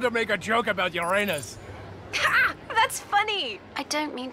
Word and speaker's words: Uranus: make a joke about Uranus that's funny I don't mean to be approved but please no jokes about Uranus besides the proper pronunciation is Uranus it's a dactal sorry Friday need a